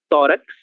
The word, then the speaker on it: tórax: em dois casos específicos, em palavras que terminam com X, certo? Então, sempre que vocês virem uma palavra terminada por X, esse X será pronunciado que sim, certo? Tórax.